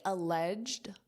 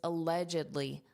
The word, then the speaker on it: allegedly: Grammatically alleged, notice that pronunciation, alleged. This is a softie, alleged. This is an adjective. It's very commonly used in the adverb form, which is allegedly, allegedly, allegedly. There are 4 sounds, allegedly, allegedly, allegedly.